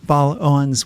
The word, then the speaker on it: Baal-Owens: all 50 states Christina B Owens welcome to talk of the bay thanks Len for having me and am I pronouncing your last name correctly yes you are actually that's uh gold